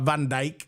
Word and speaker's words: Van Dijk: And the reason why I say it like Van Dijk, because that's how they say it on FIFA.